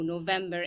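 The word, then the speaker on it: نوفمبر: So it is written as f, but pronounced as v in this month, in the name of this month.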